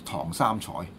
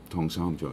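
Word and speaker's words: 唐三彩: In Cantonese, we say this is Tong Sam Choi. Tong Sam Choi.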